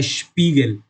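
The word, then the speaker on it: Spiegel: उसके बाद आता है आई ई। आई ई को हम कंपलसरी ई की तरह प्रोनाउंस करते हैं। जैसे कि इधर लिखा है स्पीगल।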